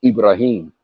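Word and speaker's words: إبراهيم: And in the Quran you pronounce it Ibrahim.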